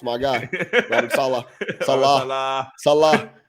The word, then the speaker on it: Saleh: Say his name like that, Robert Saleh. Salah, it's my guy. Robert Saleh. Salah. Salah. It's like Mo Salah.